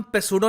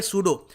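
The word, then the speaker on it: pseudo: और जो ये शब्द है ना यहां पर पी एस ई यू डी ओ इसको हम पसूडो नहीं बोलेंगे। यहां पर पी साइलेंट होता है। इसको हम प्रोनाउंस करेंगे सूडो।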